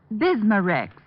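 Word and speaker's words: Bisma-Rex: slowly ease up that gastric distress and finally bismurex leaves a soothing protective covering on irritated stomach membranes well i'll have to remember that bismurex is that how you say it that's right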